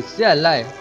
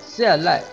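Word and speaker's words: 下来: Và cũng có một từ giống với từ xia lại, nhưng mà lại phát âm nhẹ, chữ lai phát âm nhẹ hơn một chút là xia lại, xia lại, hạ lai.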